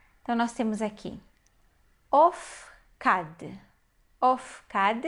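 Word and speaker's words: אפקד: Ofkad, a primeira sílaba é uma sílaba fechada e ela é a sílaba átona da palavra.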